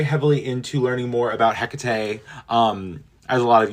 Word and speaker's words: Hecate: you've heard the name Hecate. Um, and a lot of people say like Hecat. Either way, I from what I've gathered, it is Hecate is the proper pronunciation.